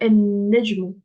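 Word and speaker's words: النجم: Et s'il y a une shedda après, on ne le prononce pas. Du coup, là, je vais dire en-nejmu, es-sama'u.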